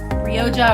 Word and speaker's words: Rioja: There was oak, Rioja, or Riyaka. I've heard people pronounce it both ways, and Dijon.